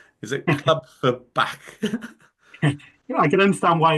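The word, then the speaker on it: Clwb Ifor Bach: Is it Club for Back? I can understand why it's difficult for someone to spell that. It's Club Iverback, so back, but basically it means Welsh club.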